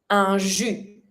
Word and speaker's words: un jus: And juice, un jus. And you don't pronounce the S.